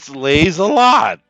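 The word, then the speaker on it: Lieselotte: l o TT e it's the French pronunciation of it slays a lot what's the problem sound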